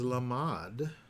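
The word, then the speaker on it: למד: We have different vowels to get, to pronounce the letter as opposed to the word lamad, which is to goad, right? Which is to teach.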